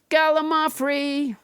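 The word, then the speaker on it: gallimaufry: done let's never forget galamafri which i pronounced wrong until nobody james hyder corrected me it's a noun that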